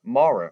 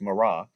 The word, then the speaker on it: Mara: Call me Mara," or sometimes you hear it pronounced Mara, "for the Almighty has dealt very bitterly with me.